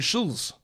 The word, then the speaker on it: Schulz: No T in Schulz. Andrew Schulz.